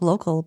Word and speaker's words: LOCLE: is local is pronounced the website is pronounced local but the spelling is a little different yeah it's w WL